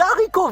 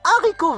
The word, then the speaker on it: haricots: comme les haricots verts on dit pas les haricots verts on dit les haricots verts donc réfléchissez bien